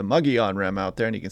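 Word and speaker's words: Mogollon Rim: few days now the muggy on rim I pronounce this Mongolian Rim out there yesterday sorry about that saw the few comments about it it is the muggy on-rem out there and you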